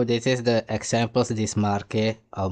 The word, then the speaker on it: Marquette: So this is the examples, this Marquette or Marquette. But it's Marquette, it's not Marquette, yeah, right? Marquette is a English pronunciation. It's Marquette, it's French.